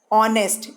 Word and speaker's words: honest: you are but we are we are Ana pronouncing it R of an are honest h o n is the H o-n-e st